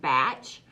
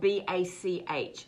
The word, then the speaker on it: Bach: Some people call it Batch, but it's spelled B-A-C-H. So I call it Bach.